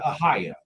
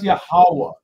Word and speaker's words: Yahawah: Does that pronounce the word aaya? It does not. That is not a alop. That's not a hey. All right. That's not a y and that's not a No, that's Yahawah. Yahawah.